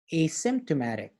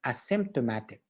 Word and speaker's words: asymptomatic: word is contagious next we have the word asymptomatic yes you heard it right we don't pronounce it as a symptomatic we pronounce it as asymptomatic okay so what